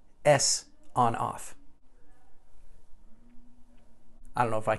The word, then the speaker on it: Sonoff: one more thing a sawn-off thanks to w johnson who had a recent chat with IT tech support and let me know that the intended pronunciation is actually s on/off I don't know if